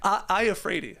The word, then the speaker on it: Iafrate: Iafrate.